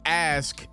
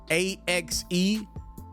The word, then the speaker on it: ask: one of the times instead of using the word ask askk young boy mispronounced the word and said ask axe like the weapon or like the body